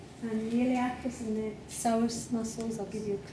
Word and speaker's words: psoas: And the iliacus and the psoas muscles, I'll give you a clue. Yeah. Iliopsoas, the iliacus and the psoas, it's spelled Psoas.